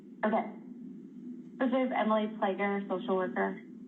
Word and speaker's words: Fleger: Emily Fleger, social worker. Thank you. And it's pronounced flagger.